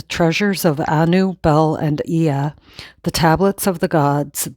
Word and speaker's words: Ea: Ia is spelled EA and then with the help of